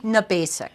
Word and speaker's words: Gnabasik: Gnabasik. Gnabasik. The G is silent. It's Polish.